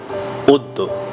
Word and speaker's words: অদ্য: অ-এর পর জফলা থাকলে আমরা অ-এর উচ্চারণটি ও করব বা ও এর মতো করব। যেমন আমরা লিখব অদ্য, কিন্তু উচ্চারণ করব অদ্য।